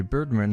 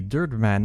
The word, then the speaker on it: Birdman: commercial for the Harvey Birdman attorney at law volume one DVD set or Harvey dirman as he seems to pronounce it always willing turn earn